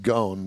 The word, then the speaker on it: Ghosn: Company Chairman Carlos Ghosn, I think it's pronounced Gone, but I like Ghosn better.